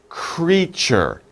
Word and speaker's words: creature: of a difficult word let's practice the pronunciation creature creature it's two syllables two sounds cree sure creature okay so creatures are all